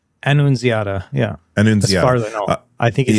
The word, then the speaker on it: Annunziata: Annunziata? Annunziata, yeah.